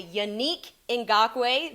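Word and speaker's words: Yannick Ngakoue: from kenyon drake and yanique in gaque that's how we say it now i had to ask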